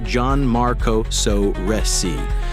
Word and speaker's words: Gianmarco Soresi: New York storyteller Gianmarco Soresi, pronounced Gianmarco Soresi for future hecklers, is mid-crowd work when a chatty patron named Jeanette decides she's co-headliner.